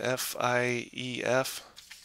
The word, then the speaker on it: Fief: tell me about a game called Fief, which is spelled F. What is it? F-I-E-F.